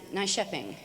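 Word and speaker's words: Nyköping: our sheet we wrote out nycoping and it's pronounced nice shepping and we spent many many crowns many dollars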